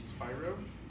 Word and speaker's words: Spiro: My name is Spiro. It's pronounced like the dragon and not the former vice president.